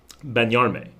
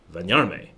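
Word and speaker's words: bañarme: I use it all the time, but when I say it, it's benyarme, but that's not correct. That is my American accent, benyarme. The real benyarme is benyarme with a V sound, because there is no B sound in Spanish.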